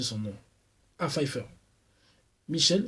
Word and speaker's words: Pfeiffer: J'ai un peu du mal à prononcer son nom. Ah, Pfeiffer. Michel Pfeiffer.